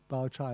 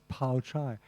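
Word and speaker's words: Baochai: He said, if I use Wade-Giles, most readers who don't know Chinese will pronounce Baoyu as Pao-Yu, right? P-A-O-Y-U. And they'll pronounce Bao Chai as Pao Chai. And they'll pronounce Dai-Yu as Tai-Yu, because that's what those letters mean.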